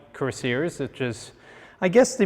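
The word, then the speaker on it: Kürassier: How do you pronounce that in German? Kurassier, absolutely right.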